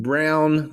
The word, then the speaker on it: Braun: And yet Kansas, after losing Brown, that's spelled Braun, and after losing Agbaji and losing